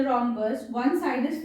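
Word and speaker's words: rhombus: रोम्बस की spelling देखिए, इट इज गॉट H also, है ना, एच साइलेंट होता है।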